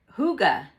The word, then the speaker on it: hygge: terrible no okay let's scratch that red heart hygge okay that's how you pronounce it hygge red heart hygge yarn which is this furry